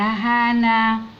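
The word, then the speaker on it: Hana: والبنت الجميله دي اسمها اهي الاتش تنطق ايه ها، ندخل على الايه وبعدين تبقى ها وندخل على الان وبعدين الايه تبقى هانا هانا.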